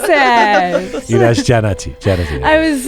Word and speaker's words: Jannati: And you pronounce Jannati Atai so French. Jannati. How do you pronounce it? That's Janati.